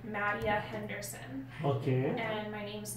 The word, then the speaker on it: Mattea: Yeah, it's Mattea.